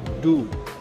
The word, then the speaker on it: du: इसके मुकाबले ये जो बराबर में है डू, बहुत लोग डी यू पढ़ते हैं इसे, जिनको नहीं मालूम, पर ये it's actually it's called डू। का सही प्रोनाउंसिएशन है डू।